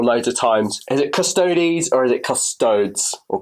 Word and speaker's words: Custodes: against the Iron Warriors, some guy put on a comment on the bottom, it's pronounced Custodes, not Custodes, and he put toads in capital letters, T-O-A-D-S. I mean, I totally get your frustration, but people pronounce Sicaran or Artificer Armour or Artificer Armour.